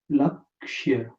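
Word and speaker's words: लक्ष्य: So you can lakshya.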